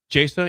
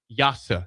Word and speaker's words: Jasa: It's not Jasa, it's Carson Yasa. Spelled Jasa, pronounced.